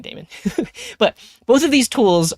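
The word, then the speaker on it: daemon: people pronounce it because I've heard this pronounced as like demon or Damon I think lately I've just been saying Damon but both of these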